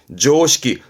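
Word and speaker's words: 常識: 발음은 조시키, 음으로는 식입니다.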